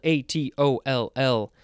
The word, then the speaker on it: atoll: It is pronounced a few different ways. It is spelled A-T-O-L-L. A-T-O-L-L. Yes, I just wanted to make sure I said it right because I've made mistakes in the past with my letters. Oh, it could also be atoll.